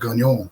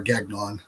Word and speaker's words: Gagnon: taking on um people like Robert gagne or Gagnon depending on how you want to pronounce it because I speak